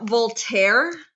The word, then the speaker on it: Voltaire: Then we have Voltaire. So Volt. So just go like Volt and then air. And then The E is silent.